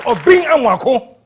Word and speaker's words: Obeng Amoako: I keep getting your name wrong. It's Obeng Amoako.